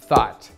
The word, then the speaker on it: thought: Первое слово thought. Мысль. Это слово произносится через длинный звук A, а на конце T. В большинстве слов, где GHT, это произносится просто как T.